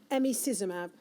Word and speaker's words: emicizumab: And then there's a current treatment now, and I've been challenged to get the pronunciation of this right, emicizumab. That's pretty good, yeah. So emicizumab or Hemlibra has been a revolution in managing